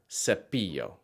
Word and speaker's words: cepillo: Its soft C sound occurs if it comes before an E or an I, like in the word cepillo.